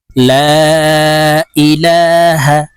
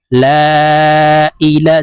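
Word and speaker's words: لا إله: বাংলা উচ্চারণ বলে দিচ্ছি লা ইলাহা যেখানে এই লার পরে টান থাকবে যেখানে তিনটা টান আছে তাই এই লামকে তিন আলিফ টেনে পড়বো লা ইলাহা যেখানে একটি টান থাকবে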